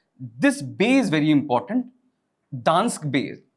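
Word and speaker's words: Gdansk: Dansk bay like it's pronounced as Dansk.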